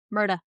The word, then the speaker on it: Murdaugh: Not Murdaugh, Murda.